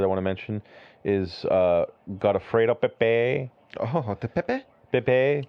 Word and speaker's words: Godofredo: So, how did you pronounce his first name? Godofredo. Godofredo Pepe.